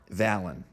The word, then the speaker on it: Svalinn: The new hero, Valon, with a silent S.